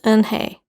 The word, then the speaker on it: Unhei: then to joey she nodded slowly yes is pronounced and hey and it means grace mr kim added and